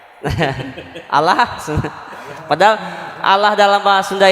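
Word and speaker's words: الله: yang menentukan harkat sebelumnya berarti kalau harkat sebelumnya fathah atau dhomah maka lam lava jalalah dibaca tebal Allah kalau sebelumnya harkat kasrah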